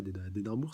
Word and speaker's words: Édimbourg: Lors de l'arc des vampires d'Édimbourg, et on sait qu'il y avait un royaume d'Édimbourg, enfin voilà, ouais, d'Édimbourg, c'est bien comme ça que ça se prononce.